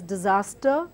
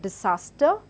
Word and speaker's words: disaster: So the word disaster, though it has a S, now keeping in mind